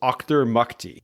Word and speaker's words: Auchtermuchty: So I just pressed listen on the Wikipedia page, and it's pronounced Auchtermuchty.